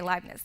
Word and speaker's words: Leibniz: about this so I don't know if I'm pronouncing his name right Leibniz he's a german philosopher like not okay Leibniz yes okay I knew you guys were gonna